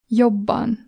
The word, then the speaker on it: jobban: And there happens at times that we double, and the double version is pronounced like this. Jobban. Jobban. So you press it longer.